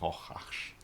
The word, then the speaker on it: Rorschach: And we are really happy to play in Rorschach. Rorschach. It's pretty hard to pronounce.